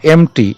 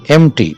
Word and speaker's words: empty: তারপরে রয়েছে দেখো এমটি, EMPTY, পি এর উচ্চারণটা হবে না, এমটি, EMPTY, এমটির অপোজিট ফাঁকা।